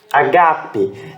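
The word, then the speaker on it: ἀγάπη: substantivo tá não verbo Ágape detalhe que essa essa pronúncia ela tem a pronúncia tônica aqui ó ga gaga rock h e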